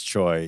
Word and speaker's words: Choi: You say the name wrong and then I make fun of it. Choi. It is Choi.